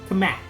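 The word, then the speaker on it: Cammack: really good okay cat com how do you say her name com c cam C Kam o kamak cat kamak love her she's great too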